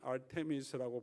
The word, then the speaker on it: 아르테미스: 아데미 아르테미스라고 보통 발음하고 나중에 로마식으로 오면 다이애나라고 표현하는 여신의 이름이고요.